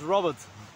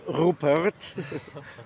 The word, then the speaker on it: Robert: My name is Robert. Robert. But you're pronouncing this differently. Robert. Robert. Robert. Robert. Robert. Not Rupert, but Robert he is.